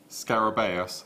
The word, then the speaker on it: scarabaeus: What can you pronounce that? Scarabaeus, scarab beetle.